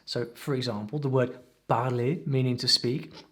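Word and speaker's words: parler: for example the word barley meaning to speak has a silent r at the end and there are two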